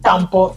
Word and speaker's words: tampo: Tampo.